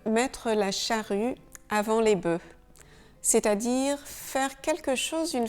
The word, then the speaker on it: bœufs: Notez bien comment on prononce bœuf, un bœuf, des bœufs, et ça c'est exactement la même chose que un œuf, des œufs.